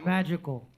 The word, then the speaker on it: Majycos: Am I saying it right? Majycos. Majycos. Damn, dude. Or Sorry. Fuck. Magical. Yeah. Magical. He crosses his eyes.